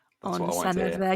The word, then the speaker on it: Senedd: That's on Senedd there. You got the double D, so I'm really proud of you.